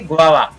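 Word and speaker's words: guava: लेकिन एक और अपवाद है कि GU के साथ हर समय ग नहीं होता है, इसलिए आप यहाँ पर देखें, यहाँ पर इसको पढ़ेंगे गुआवा, गुआवा।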